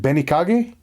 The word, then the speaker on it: Benikage: It's a Japanese pronunciation. So is it Benikage? Is that right? Correct.